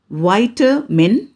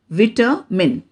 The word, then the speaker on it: vitamin: voice the fourth example v i t a m i n american pronunciation white min british pronunciation vitter min you can repeat after